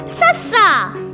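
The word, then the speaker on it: ਸੱਸਾ: Meet Sassa, pronounced Sassa. It sounds like the English letter S. So it's S, like in sun.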